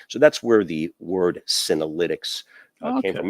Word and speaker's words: Senolytics: So the business is called Senolytics, and that's derived from the word senescent and the word lysis, meaning age busting, basically. Senolytics, spelled with a C out of the X at the end, are basically a class